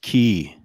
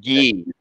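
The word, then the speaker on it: 기: And he is Korean, so it's pronounced ki, by the way. Actually, gi. Korean is. Oh, is it gi. really? I thought it was ki.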